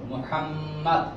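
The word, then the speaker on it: مُحَمَّد: নাম কি করতেছি মুহাম্মদ মদ পাশটি জব জব মুহাম্মদ মিমের উপরে পেশ। বাংলা অনেকে আমরা মৌকার লিখি মৌকার হওয়া কথা, তাহলে পেশের উচ্চারণ তো হবে ও হলো ওকারের মতো।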